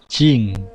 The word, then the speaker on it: 人: Jadi nama negara ya, polanya adalah ini nama negaranya diakhiri dengan jing ya. Tulisannya jin tapi bacanya jing ya.